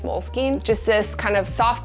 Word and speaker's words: Moleskine: into an email afterwards i don't know how to say it i've been calling it moleskin my whole life but i think it's moleskine just this kind of